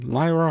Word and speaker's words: Lyra: It's pronounced with a lie, not a lee. Presenting Lyra Heartstrings of Ponyville.